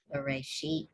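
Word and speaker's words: בְרֵאשִׁית: We all want to say bereshit, but it's v. It's a v. It's a vet. Bereshit.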